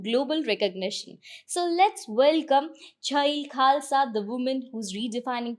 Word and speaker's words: Chhail: So Chail, पहले अपने name का बैकग्राउंड बताओगे, आपका नेम कहाँ से आया है? Yeah, so it's pronounced as child.